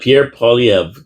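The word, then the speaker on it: Pierre Poilievre: Yep, Pierre Polyev.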